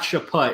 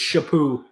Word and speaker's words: Chaput: awful start the period geppu that's how you pronounce it's not Chaput its shippou well although western games their honor like 10 p.m.